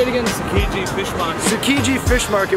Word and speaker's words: Tsukiji: Tsukiji Fish Market.